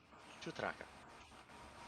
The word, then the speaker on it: Chutraka: I'll look through the interviewee things like Chutraka. Is that am I saying that correctly? Yes, Chutraka.